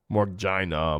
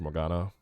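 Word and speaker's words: Morgana: his buddy uh window morina morina morina morina I know it's pronounced Morana um binding and I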